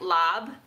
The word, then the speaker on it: larb: a larb too but apparently it's pronounced more like lob but we spell it l-a-r-b so of course we're